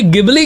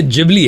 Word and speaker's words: Ghibli: यह गिबली गिबली क्या है? ये गिबली गिबली पहली बात तो ये गिबली नहीं है। ये जिबली है। जैपनीज प्रोनाउंसिएशन जिबली है।